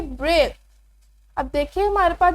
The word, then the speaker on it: Braille: इन, अब देखिए BRAILLE, हम इसे बराइली नहीं पढ़ेंगे, हम इसमें जो है आई उसका साउंड प्रोनाउंस नहीं करेंगे बिकॉज ऑफ साइलेंट लेटर, हम इसे पढ़ेंगे ब्रेल।